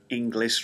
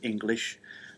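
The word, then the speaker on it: Inglis: end and no e at the front so English rather than English um he is also from Overton uh where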